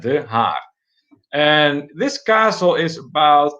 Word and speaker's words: De Haar: You spell it D-E, and then the second word Haar would be H-A-A-R. just like that, De Haar.